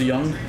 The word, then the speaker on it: Jung: baby I'm a little Josh Jung Josh Young right I think everyone says it's supposed to be pronounced Young all right well